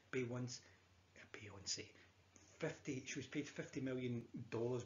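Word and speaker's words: Beyoncé: And the singer there was Bay Once, I believe her name is. So Bay Once, is that how you say it? Yeah, I think it's Bay Once. Beyonce.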